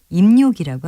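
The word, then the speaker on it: 입요기: 고여 입자를 붙인 것인데 발음은 니은을 첨가해서 입욕이라고 합니다 입력인은 입가심이나 할 만큼의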